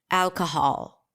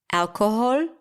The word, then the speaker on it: alcohol: say yes alcohol alcohol now I'm deliberately kind of messing up the last sound because I'm trying to get you to tell me if the last syllable is a pure vowel or a reduced vowel is it awah so